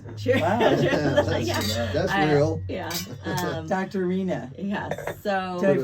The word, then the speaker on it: Rheana: Rheana. Yeah. So. Did I pronounce it right?